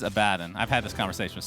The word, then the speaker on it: Abaddon: got i got confused the correct pronunciation is abaddon i've had this conversation